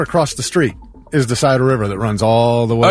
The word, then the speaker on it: Scioto: Scioto River.